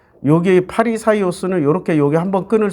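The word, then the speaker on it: Φαρισαῖος: 그런데 바리새라는 말도 얘네들이 한문으로 발음을 할 수가 없으니까 바리새라고 쓴 거야. 파리사이오스라고 써야 돼. 파리사이오스.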